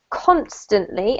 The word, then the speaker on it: constantly: The first one is here, constantly, emphasis on the first syllable, constantly.